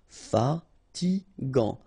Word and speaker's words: fatigant: In that case, you've got A N, so it's gant. Final T not pronounced. Fatigant, fatigant.